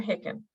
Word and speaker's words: Hawken: Is it Hawken or Hicken? Oh, any way you like. I pronounce it Hawken.